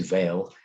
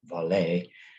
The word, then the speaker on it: Vale: informed me that uh my reference to vail was meant to be pronounced valet um and i hope